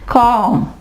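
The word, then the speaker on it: calm: इसके अलावा कॉम, यहां पे क्या है, एल आवाज नहीं देगा। ठीक है, यहां पे हम इसको पढ़ेंगे काम। इसके अलावा पाम, एम से पहले एल आया, एल आवाज नहीं देगा।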